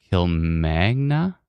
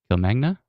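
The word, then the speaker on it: Kilmanagh: right now it's right near how do you pronounce this k i l m a n a g h Kil Magna Kil Magna uh right near Kil Magna which is west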